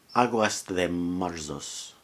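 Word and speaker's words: Águas de Março: Later in his career, he wrote a song, I'm going to pronounce it in Portuguese, Aguas de Março.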